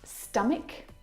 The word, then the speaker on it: stomach: Words like stomach and ache. The CH in all of these words is pronounced like a K sound.